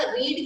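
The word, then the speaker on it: read: अच्छा, रीड की ना तीनों फॉर्म्स रीड, रेड, रेडी होती है, बोलने में रेड रेड बोलते हैं लेकिन स्पेलिंग सेम ही होती है, इसीलिए वहां पर भी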